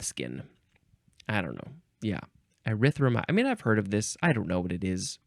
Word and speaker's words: erythromycin: Next is erythromycin, or no, I think I added a syllable. Erythromycin, because the end of the word is mycin, noun from 1952.